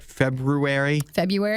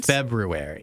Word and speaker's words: February: February 2nd. No, February. Mm-hmm. Did you hear? I hear the way you're pronouncing I'm saying it the right way.